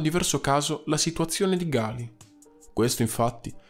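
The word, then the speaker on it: Ghali: oppure rispettato e che in questa lingua, che è quella originale del nome, Gali si pronuncia Gali.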